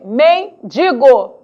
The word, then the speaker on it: mendigo: ainda não oficial Ok no entanto sabemos que mendigo mortadela advogado e privilégio são as adequadas pronúncias o que acaba influenciando